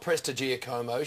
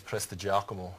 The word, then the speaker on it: Prestigiacomo: professional hosts and commentators it's not preig geom she said it's preak now is she right um yeah I think the actual Italian um probably pronunciation is prako so but we sort